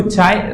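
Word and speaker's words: χ: ठीक है, इसको हम अब अगले अलग अलग बुक्स अलग अलग नाम देती हैं, पर इसको चाय प्रोनाउंस किया जाता है एंड इसको ससेप्टिबिलिटी कहा जाता है।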